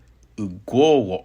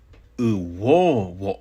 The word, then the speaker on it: ugwo: But you may also hear ugwo ongi, which means brush your hair. So rather than saying uwo ongi with a W, it becomes ugwo with a GW pronunciation.